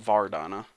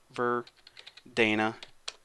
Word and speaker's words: Verdana: And I'm just going to set the font family to Verdana, not Vardana. Verdana. Maybe that's how you say it.